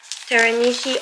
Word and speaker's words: Teranishi: last night and I have T was it Teran Nishi teranishi Opera Rose and I think it's good so